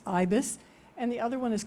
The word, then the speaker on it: Ibis: on the left is called ebis in French it's Ibis and the other one